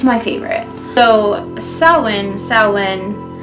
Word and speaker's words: Samhain: favorite so selwyn selwyn which by the way took me forever to figure out how to pronounce and i mean i had to google it because it is spelled nothing like it sounds so are someone and